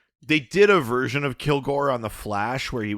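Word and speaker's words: Kilg%re: First question from Ranger Gord, who asks, how do you pronounce, and I'm assuming this is Kilgore. Oh, well, right, because it's got the percent Yeah. in the name. That's Kilgore, right? It is Kilgore.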